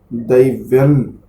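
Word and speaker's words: दैव्यम्: दैव्यन, यहाँ पर माँ नहीं, दैव्यन, बस एक त्रुटि थी आपकी।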